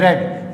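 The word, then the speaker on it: read: दो के ये फॉर्म एक जैसी है, रीड रीड रीड ही लिखा जाता है, लेकिन पढ़ने में से रेड, रीड रेड रेड।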